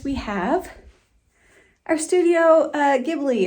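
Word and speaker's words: Ghibli: have our studio uh gibli or jibli I never know how to say it I always say Studio gibli but I've heard people say jibli so I don't really know anyways we have those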